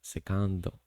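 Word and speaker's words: セカンド: Then there's the second base, which is pronounced as secando.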